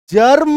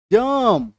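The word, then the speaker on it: germ: उच्चारित नहीं करना है मतलब जर्म नहीं बोलेंगे जम टर्म टम आ रही है बात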